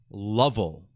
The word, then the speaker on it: Lovell: Jim's last name was Lovel and it's pronounced the first syllable as love.